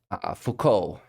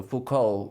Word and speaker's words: Foucault: that some words so Foucault we really do not pronounce the final t uh by convention however